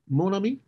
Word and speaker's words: Mon Ami: Talent manager, executive producer, and CEO and founder of your company, Mon Ami. Did I pronounce that? Productions, very well pronounced. Mon Ami Productions, or as in the Midwest, they would say, Mon Ami.